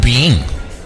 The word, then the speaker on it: Byng: Noodle Soup Chew Resto is open at 5423 Yonge at Byng. How do you pronounce that street name? B-Y-N-G. Byng. Right?